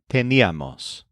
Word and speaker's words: teníamos: First of all, the imperfect forms all stress the syllable ni.